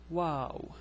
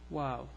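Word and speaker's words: واو: It's pronounced like W in English. Woo. Oops, that's too much. So it's like the W in English. So the letter WaaW.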